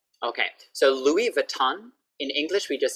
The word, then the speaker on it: Louis Vuitton: Okay, so Louis Vuitton. In English, we just say Louis Vuitton. Louis Vuitton. But it's French, so Louis Vuitton. But we can just speak like English, Louis Vuitton. No S sound, no S sound.